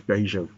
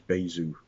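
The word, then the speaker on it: Bajwa: that they could say my name is baja b-a-y-j-w and for two years of school i thought my name was baizu because uh a teacher decided that uh bay zoo was more appropriate because that's where i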